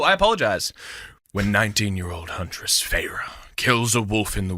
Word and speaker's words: Feyre: And the name that you're looking to pronounce is Feyre. Feyre.